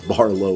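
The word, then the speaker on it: Barlow: By the way, I mispronounced Barlo with Bartlett earlier, but that is the backstory.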